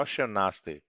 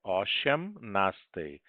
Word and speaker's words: osiemnastej: Então, lembrando que todas as letrinhas são pronunciadas sempre, tá bom? Não é osiemnastej, é osiemnastej. Osiemnasta.